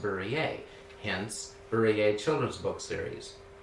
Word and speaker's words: Burrier: is barrier b-u-r-r-i-e-r and it's a french origin so in france it's pronounced berries hence berea children's book